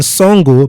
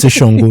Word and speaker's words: Shango: And Songo, because we know they won't pronounce it Shango.